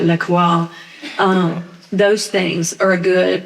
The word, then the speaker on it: LaCroix: So the unsweetened, sparkling, like LaCroix, my friend says, you Southern, you say it right, LaCroix.